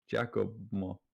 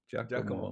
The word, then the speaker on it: Giacomo: that G Yeah, G. is pronounced as a J, so it's Yeah. like Giacomo Giacomo.